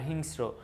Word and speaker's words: হিংস্র: স্বাগত স্বাগত ঔষধ আর হিংস্র এই জায়গায় হিংস্র মানে সংক্ষেপে র টা বেশি উচ্চারণ হচ্ছে স টা পাতলা ভাবে উচ্চারণ হচ্ছে এইজন্য এটা এক্সেপশন এটা